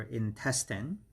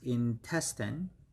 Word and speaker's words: intestine: part 67 is our intestine intestine and the pronunciation is in testing so the stress is on the second syllable so it's intestine intestine and in other